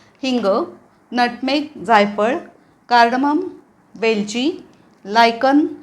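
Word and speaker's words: lichen: नटमेक जायफळ कार्डम वेलची लायकन हे पण वेगळं आहे लायकन उच्चार स्पेलिंग नुसार केला तर लिचेन होईल लिचेन उच्चार नाहीये लायकन लायकन दगडफूल मेस जायपत्री मस्टर्ड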